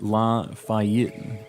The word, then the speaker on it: Lafayette: It's pronounced Lafayette.